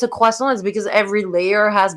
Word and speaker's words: croissant: Yes, I say croissant like we're supposed to say croissant. That's the actual pronunciation. Very, very French, right? Croissant.